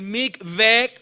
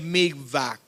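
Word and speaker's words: mikveh: Repita conmigo, purificación que se hacía con el MIG VC o como algunos lo pronuncian el MIG back.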